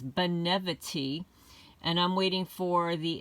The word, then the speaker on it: Benevity: I pronounced it incorrectly last time. I said brevity or something like that. It's Benevity.